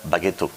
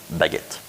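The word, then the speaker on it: baguette: see this this world I do believe that in Japanese you will say that Bago but actually in French it's baguet my point is that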